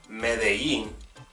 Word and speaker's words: Medellín: So for example, as opposed to saying Medellín, many people say Medellín, Medellín.